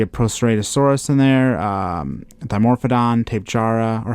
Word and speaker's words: Tapejara: I think I see a Proceratosaurus in there, Dimorphodon, Tapejara, or how do I pronounce that? Is it Tapejara.